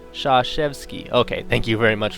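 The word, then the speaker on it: Krzyzewski: Blue Devils Mike koretsky whose last name is pronounced Shaw chefs key okay thank you very much for helping me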